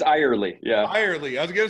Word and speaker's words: Eyerly: episode wait ever or i was gonna say everly but it's how do you pronounce it now because it's eye early what's that it's eye early yeah entirely i was gonna see everly that